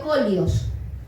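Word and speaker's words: σκολιός: Se pronuncia colios, pero adelante de colios la S.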